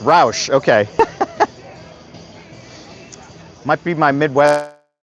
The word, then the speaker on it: Roush: Darth says it's pronounced Roush.